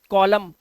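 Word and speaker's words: column: पर देखिए इसी तरह से यह वर्ड है कॉलम अब इसे कॉलम मन मत करना कॉलम इसका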